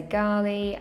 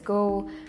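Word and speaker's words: Galle: Located along, now I'm going to say Gal Road because that's how a tuk-tuk driver told us to pronounce it. Other people say Gali, other people pronounce it as Gaul, but the property itself is beautiful with plenty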